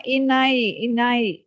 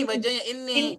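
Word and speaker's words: إني: Oh, ini bacanya ini, jangan inai. Inai itu kan pakai itu. Oh ini, ini gitu aja ya Ustaz. Iya, jadi kan saya bilang kan itu huruf juga Bu, ini kan. Iya. Seperti bacaan sholat kita, ini wajah tuh. Wajah tuh wajah. Iya, aku hadapkan mukaku ya kepada Tuhan. Kan begitu, pada Allah. Jadi bacanya jangan inai.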